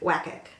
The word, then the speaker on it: WCAC: I think WCAC is how they want me to pronounce it.